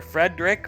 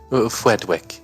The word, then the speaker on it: Fedwick: have President Fred fedwick do you prefer Fredick or fedwick fedwick is the correct way to pronounce it fedwick so insert W where the letter makes no sense got it uh you